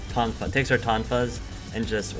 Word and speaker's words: Tonfa: Nevi takes her, how do you pronounce them again? Tonfa. Tonfa.